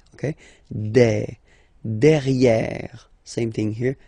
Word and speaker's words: derrière: Derrière. Same thing here. You've got this E accent grave. E. Derrière.